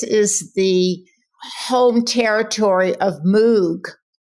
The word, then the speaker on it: Moog: Well, so Moog, Bob, was it his first name, Bob? Bob Moog? Yes, Bob Moog. And actually, I think it rhymes with Vogue.